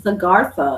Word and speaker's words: Agartha: There's one from, I speak to from the white Agartha, is that how you say it? Yes. It's Agartha.